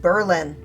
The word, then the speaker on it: Berlin: I live in uh in 1914 got official renamed to be pronounced Berlin because of course it